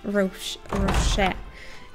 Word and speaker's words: Roche: Vernon Roach. I just always pronounce his name Roche, as we do it in Russian.